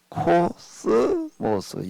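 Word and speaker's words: κόσμος: 뭐라고 읽지요? 코스모스. 영어하고 좀 비슷한 단어들이 좀 이렇게 몇 개 있습니다.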